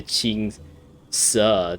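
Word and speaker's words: Qingce: pronounce it in chinese oh okay c is a t sound i see village i guess it's close to cheap closer to ching sir than chinka so i was like way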